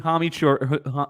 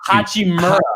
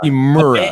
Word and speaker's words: Hachimura: We're getting a career from Bertans and Ryu Hamichur. I don't even know how to say his name. Rio Hachimura. Hachimura.